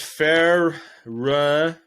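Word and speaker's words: Ferencváros: so next up we had buyer Leverkusen against fair run that's how you pronounce it I put where they were from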